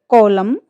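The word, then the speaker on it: column: इसका रूल्स देखिए आप, शब्द के अंत में एम के तुरंत बाद एन आता है तो एन जो है वो साइलेंट हो जाता है। स्पेलिंग से देखिए, ऑटम, कॉलम, हिम, इन सारी ही स्पेलिंग्स में आप देखिए एन जो लेटर्स है वो यूज तो किया गया है, बट प्रोनाउंस करते समय उसको साइलेंट कर दिया गया है, उसको मूक बना दिया गया है।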